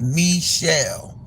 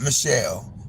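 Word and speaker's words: Michele: It was supposed to have a accent over the last E. And it was supposed to be pronounced M shell, not Michelle.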